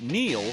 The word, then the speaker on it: Neil: It's no coincidence that Neil rhymes with deal, because that's something you